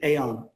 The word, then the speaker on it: Aon: After 13 years with Aon, that's how you say it, AON, where he